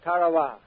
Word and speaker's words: Tarawa: a tiny island in the Mid Pacific called Tarow. That pronunciation, incidentally, is from the National Geographic Society. That island will never be important economically. It is no rich source of raw materials, but the name of Tarawa has been written indelibly into American memory in